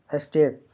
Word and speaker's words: steak: STEAK का उच्चारण pronunciation स्टेक।